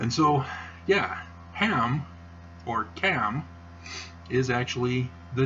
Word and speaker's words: Ham: ham is not pronounced ham that is a miss translate or mispronunciation of the hebrew the hebrew is the cat so ham is actually cam cam and guess what